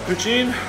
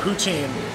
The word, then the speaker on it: poutine: but you don't need these 40 pieces Travis poutine turns out very very very very famous Canadian